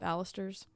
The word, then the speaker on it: balusters: I didn't say it right either, did I? No, you did. Oh. Balusters. From the hip. So like banister.